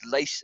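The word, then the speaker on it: Luis: But anyway, so they wanted a shot of Lace, and her name is Lace. It's pronounced like Lace, but it's actually the Afrikaans word for louse.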